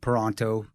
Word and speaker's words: Peranto: Peranto, rhyme with Tonto.